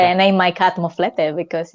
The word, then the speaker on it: moflete: Moflete.